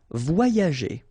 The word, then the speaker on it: voyager: letter here, okay, and it will be transformed like if you would have deux I, okay, so the first one will be combined with this O, so you will get voix, voix, and then the second one will be connected and combined with this A, ya, okay, so you get voyager, voyager.